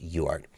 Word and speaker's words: UART: referring to a UART UART or just pronounced yard and the way I